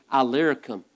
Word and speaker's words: Illyricum: Illyricum is how you pronounce that word.